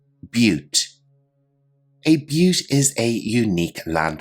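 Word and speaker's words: butte: the video description below our next term is pronounced a little bit differently than you might imagine but repeat after me but a but is a unique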